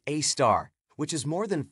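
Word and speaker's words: Sagittarius A*: its Center known as Sagittarius A asterisk pronounced a star which is more than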